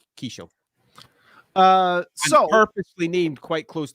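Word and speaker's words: Qhaysh: It was Kishel, and I have that written down somewhere. It's spelled with a Q. But yeah, Kishel.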